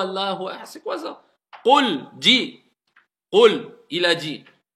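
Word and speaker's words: قُل: juste la prononciation des lettres, prononcez-les bien correctement. C'est pas cool, c'est qul, qul.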